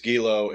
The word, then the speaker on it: Giello: Holt Giello, I believe is the way it's pronounced, or Gilo. Is that correct? That it's Gilo, and Gilo. Gilo is not a part of our program at this moment.